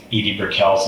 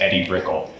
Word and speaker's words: Edie Brickell: new Nubian album, and everybody said like Edie Brickell's name wrong in the audition. They all said Eddie Brickell.